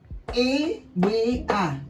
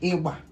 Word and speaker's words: ewa: e e e w a ewa These are pronounced as one word. e w a ewa ewa means drum.